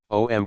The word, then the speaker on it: om: Lord is praised enchanting om comprises three syllables Au m in in viic Tradition